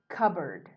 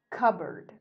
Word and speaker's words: cupboard: word board and it the sound at the end is not exactly as you see it cup plus board is cupboard cupboard and it's not cut board for example so you may not say cut board this is